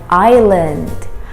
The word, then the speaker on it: island: is pronounced as an island island yes the s is silent we don't say the s if we say the